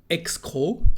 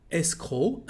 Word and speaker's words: escroc: Escroc, a crook. You can't hear the last C. Escroc, un escroc.